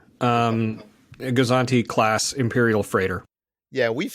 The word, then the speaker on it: Gozanti: How do you pronounce this freighter? It's a Gozanti, a Gozanti class Imperial freighter.